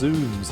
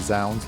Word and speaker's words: Zounds: So it's pronounced zooms. Interesting. I've always called it zounds, like sounds. Hey, sis!